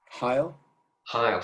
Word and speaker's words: Heil: How do you pronounce his surname? Sorry, it's John Heil.